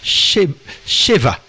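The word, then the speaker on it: שבע: 7 le mot 7 Cheva alors ça s'écrit avec un B mais qui se prononce V ve Cheva c'est pourquoi on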